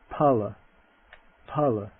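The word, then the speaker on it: phala: This is not like fu not pronounced like the s like phone but it's just an aspirated p the word that means fruit pa pa to pervade parity parity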